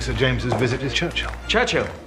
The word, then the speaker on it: Churchill: Churchill. That's how you say it. All together like that. I'd heard church and hill, but couldn't find either.